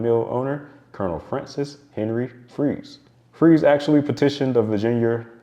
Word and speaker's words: Fries: Well, it's actually pronounced Freeze, Virginia, not fries like the food.